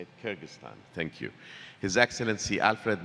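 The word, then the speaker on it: Kyrgyzstan: Kyrgystan, is that the right way to say it? Kyrgystan.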